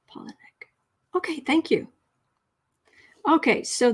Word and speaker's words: Palahniuk: just save okay pollinic it says pollen nick i think the accent is on the first syllable polynek okay thank you okay